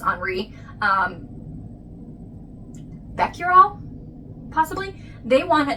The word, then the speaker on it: Henri: So, Henry, but in French it's Enri um Beckural possibly.